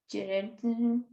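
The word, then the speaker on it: Geertz: Clifford Gerard, assim se pronuncia exatamente.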